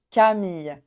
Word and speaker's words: Camille: garçons pour les filles on prononce Camille Camille alors le y à la fin famille Camille en fait c'est difficile mais au